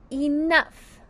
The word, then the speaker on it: enough: Now, we hear an F, but in this case, it's spelled with a gh. Very tricky.